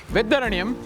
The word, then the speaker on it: Vedaranyam: Well, after driving for a long time in Tamil Nadu, on coastal Tamil Nadu, we have finally reached this place called Vedaranyam. Yes, I pronounced it right.